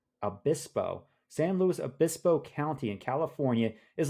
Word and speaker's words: San Luis Obispo: California San Luis how do you say Sean San Luis Obispo Obispo San Luis Obispo County in California is like giving Harvest hosts